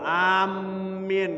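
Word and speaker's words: āmīn: Amin, enggak boleh. Bukan enggak boleh, sunnah saja Pak ya. Saya kalau mengatakan enggak boleh salah, sunnah Pak. Takhfiful mim fiha. Mimnya ringan bacanya.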